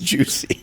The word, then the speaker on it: Jussie: He leads with Juicy. Listen, that is the correct pronunciation that he requested at the trial.